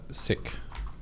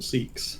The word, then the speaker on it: Sikh: Like, you guys have been pronouncing it consistently wrong for this whole time, so we'll just call that a valid one.